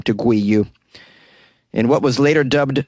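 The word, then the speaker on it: 鮭魚: with the chinese characters for salmon which is pronounced gui you if they had that in their name they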